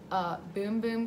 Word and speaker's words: Bum Bum: we're gonna have a Bum Bum. It's supposedly pronounced Boom Boom Cream, but I feel like Bum Bum is just so much more fun to say.